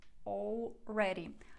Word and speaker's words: already: are правильно already already already До речі дуже часто літеру L там не вимовляють і кажуть already already або already можна і так і так It's over It's